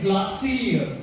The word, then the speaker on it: Glacir: The unveiling of gin soak and glassy. Is that how you say it?